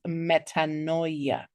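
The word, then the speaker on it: metanoia: Our word of the day this evening is metaninoia. And the pronunciation for that is metaninoia.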